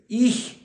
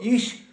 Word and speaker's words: ich: 2 тобто 42 ама то я шукаю будинок з номером 142 undте ich und звертаєте увагу ее займенник, то е-е вам треба вимовляти ее м х м'якке іх х е не, бо то іш.